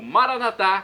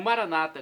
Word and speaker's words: Maranatá: E agora do aramaico eu clamo Maranatá, como dizemos nós católicos, com a tônica na última sílaba. O Maranata, como dizem nossos irmãos separados, os evangélicos ou protestantes, com a tônica na penúltima sílaba.